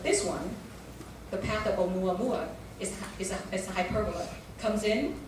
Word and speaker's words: Oumuamua: How do you pronounce that? Is that a Hawaiian god? It is Oumuamua is a Hawaiian name.